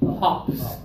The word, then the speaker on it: hop: me hop hop okay a little more open Ah that's better really good Masari give